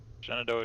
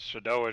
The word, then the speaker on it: Shenandoah: Just Shenandoah Shine and True Speed, I guess. Or I gotta say it like Cooper does, Shadoa Shine. Shadoa Never Shine. can say it. Yeah, he can never say it right.